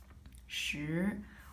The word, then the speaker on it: 时: 时. Well, it is actually the same as pronunciation for the number 10.